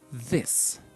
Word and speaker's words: this: in silver silver so the pronunciation is short and it's like an I so you say this this this and the